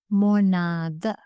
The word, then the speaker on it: මොනාද: But when the answer is plural, use the word monada. The original word is monavada, but we often pronounce this as monada.